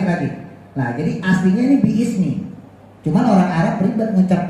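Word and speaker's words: بسم: Untuk memudahkan cara baca ya menjadi bismi ya, maka lafaz bi ismi menjadi bismi, alifnya dibuang bismi.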